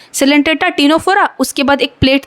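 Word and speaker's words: Ctenophora: तो और देखो प्लैटीहेलमिंथिस के ऊपर 2 सी आते हैं, एक सीलेंट्रेटा और एक टीनोफेरा जिसमें सी साइलेंट है।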